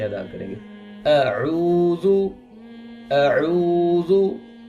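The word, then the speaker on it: أعوذ: जिस तरह अऊज़ु, इसको हम बाज़ औक़ात पढ़ देते हैं अऊज़ु, ये गलत है, हमज़ा अलग है और आइन की प्रोनाउंसिएशन, उसकी अदायगी का तरीका अलग है। तो हम कैसे पढ़ेंगे? अऊज़ु, अऊज़ु, अऊज़ु। आइन को गले के दरमियान से और हमज़ा को जो है वो गले के आखिरी हिस्से से अदा करेंगे।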